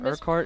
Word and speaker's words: Urquhart: it gets gets tough there's a bunch of silent letters in there that really don't make sense so it's like people